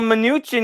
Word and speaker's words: Mnuchin: no but i mean uh yeah um well mnuchin even was that's how you say his name